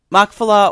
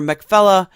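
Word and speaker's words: Machpelah: in the cave of Mcfella. So that Makfella or Mfella, however you want to pronounce it, um depends on whether you're pronouncing it in Hebrew or not.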